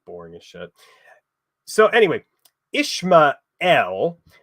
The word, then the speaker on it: Ishmael: So anyway, Ishmael was originally pronounced Yishmael, meaning that which God has hearkened, essentially confirming the fact that this was the son promised to Abram by God.